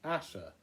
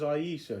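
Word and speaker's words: Ayesha: a pronunciation guy that says her name is pronounced Asha oh okay well all these years I thought it was Aisha because of the film yeah well Asha or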